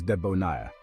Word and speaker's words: debonair: and Charisma that's Debonair the pronunciation is Deon with the stress on the last syllable you can use it